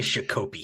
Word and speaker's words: Shakopee: I think it's Shakopee, yeah. Shakopee. I like saying Shakopee. It's Shakopee. I've been corrected so much on this, and then praised in comments by saying, "Wow, you pronounced Shakopee." Just saying Shakopee sounds it rolls off the tongue better.